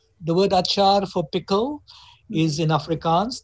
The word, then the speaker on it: achar: I guess the word achar, the word achar for pickle is in Afrikaans. They pronounce it acha because they don't pronounce the R, acha, achar.